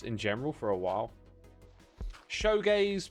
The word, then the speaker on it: shoegaze: So I can say shoegaze, and that's how it's supposed to be said. But I always, for some reason, just say showgaze.